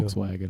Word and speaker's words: Volkswagen: isn't it volkswagen um it's like the v becomes a w volkswagen right volkswagen in english